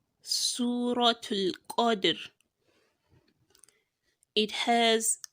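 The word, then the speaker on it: قدر: Not qadr, but qadr, because qaf is a thick letter, you would have to thicken it whilst pronouncing it, and that is why you say qa, then dir. We are not saying qadri because we are stopping there. That is why we say qadr.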